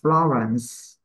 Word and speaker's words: Florence: phép Đọc như thế nó đọc là Florence Florence Florence đó thì cái âm